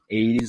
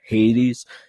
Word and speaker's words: Hades: wondering why i'm saying 80s instead of hades uh in an actual navigation you're supposed to remove the h from ancient greek uh pronunciation so i would actually